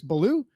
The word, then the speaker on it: Ballew: the man himself chris baloo i assume that's how you pronounce it correct that is blue you did it right off the bat no correct fantastic